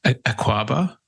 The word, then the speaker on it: Akwaaba: I want to make sure I'm pronouncing it correctly. Akwaaba?